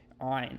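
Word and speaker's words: עין: of constricting your throat, kind of like you're about to throw up even. Ayn. It's called the pharyngeal stop, I believe.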